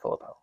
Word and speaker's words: Philippou: So that's how you pronounce it, Philippou.